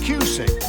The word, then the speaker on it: Cusick: That's Cusick. Rhymes with music.